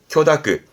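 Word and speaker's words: 許諾: 발음은 쿄다크, 음으로는 다크예요.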